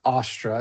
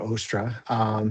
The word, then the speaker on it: Ostra: So and it's I always pronounce it Astra, not Ustra or or Ostra.